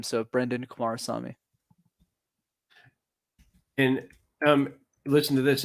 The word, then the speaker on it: Kumarasamy: linkedin is just my name so if brendan kumar saw me and um listen to this everybody brendan kamara saw me i said it right that's how you find